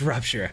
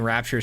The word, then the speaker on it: Rupture: It's Rupture. I've been saying Rapture so long.